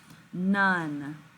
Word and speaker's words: none: one more time none if you listen very closely this is actually making a short u sound this is one of